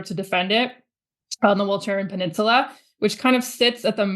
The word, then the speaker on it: Walcheren: 1 second and just give you the Dutch pronunciation of the island for fun. Yeah. You won't have to say it again after this sound, but it's pronounced Walcheren.